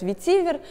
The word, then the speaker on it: ветивер: с этим словом нет многие люди говорят ветивер но я предпочитаю и многие люди из индустрии со мной согласятся ставить ударение на последний слог ведь и вверх как бы на французский манер спасибо что были с